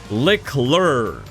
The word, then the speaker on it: Leclerc: Leclerc, I finally learned how to say it, bro.